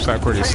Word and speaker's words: Socrates: Socrates. Socrates, like the philosopher, Greek philosopher.